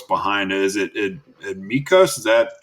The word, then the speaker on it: Mykos: brand like what's behind it is it it mikos is that pronouncing it correctly yeah yeah mikos like what's it mean well we wanted it